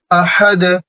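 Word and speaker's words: أحد: কুল হুয়াল্লাহু আহাদ, আহাদ, হা একটু চাপ দিবেন, হলকের মধ্যখান মানে গলার মধ্যখান থেকে উচ্চারণ করবেন।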